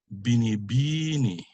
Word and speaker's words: binibini: Other examples, binibini, So slow. Binibini, second to the last syllable.